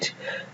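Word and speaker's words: receipt: আই ই পি টি রিসিট এই শব্দগুলোতে লক্ষ্য রাখবেন যে পি এস কিংবা পি এন কিংবা পি এর পরে এস এন কিংবা টি থাকলে সেই পি উচ্চারিত হয় না অর্থাৎ সাইলেন্ট থাকে এরপর দেখব সাইলেন্ট এস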